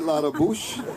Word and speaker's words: Ladabouche: I asked him if he wanted the French pronunciation. He said no. David Ladabouche and Eric Metzger.